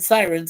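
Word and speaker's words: Psirens: episode called Sirens which the way they spell it is with the word Sirens adding a p at the beginning capital P so sirens and episode aired October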